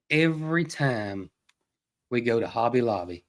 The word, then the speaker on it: Hobby Lobby: And I tell you what else, every time we go to Hobby Lobby, and I said it right. You usually say Hobby Lobbies. I usually put a S on it, but every time we go, I go to the model car section.